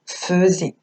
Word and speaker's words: faisait: petit piège sacékripa faisait ça s'écrit fais et mais on l'entend faisait donc faisait je vous